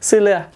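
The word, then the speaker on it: see you later: আমার বস আমাদেরকে বলতো সিলেয়া। দেখছেন যে তারা কত দ্রুত বলে, আমি প্রথমত ধরতেই পারি না যে কি বলে সিলেয়া। সি ইউ লেটারকে এখানে যারা ব্রিটিশ ইংলিশ আছে তারা আর উচ্চারণ করবে না, এবং মানে টিটাকেও তারা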